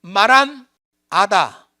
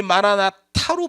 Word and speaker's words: 마란 아타: 이렇게 돼 있는 거죠 근데 아타드 원래 맞잖아 아다가 맞습니다 마란 아다 마라나 다 이렇게 돼 있는 거 근데 이제 영어권에 있는 사람들이 마라하다 이게 발음이 부드럽지 않으니까이 영어권에 있는 사람들이 마라나 타로 발음한 거예요 원래 원래 원문은 마란 아다로 돼 있어요 다 그런데 마라나